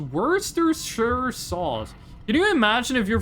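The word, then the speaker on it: Worcestershire: It would be pronounced Worershaw.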